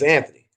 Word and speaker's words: Anthony: used a clay bar mitt oh my name's anthony that's how you pronounce it is there any sport you like